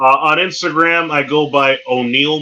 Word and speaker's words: O'Neill: Instagram I go by O'Neal m even though it's spelled one ill o n e